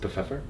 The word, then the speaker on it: Pfeffer: I like pepper mainly because the way you say pepper in German is Pfeffer.